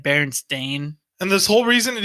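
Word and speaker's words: Berenstain: it wrong i think it's not berenstein it's like bear and stain and this whole reason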